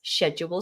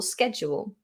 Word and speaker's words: schedule: differences they are minor there are some pronunciation differences like status and status schedule schedule there are a few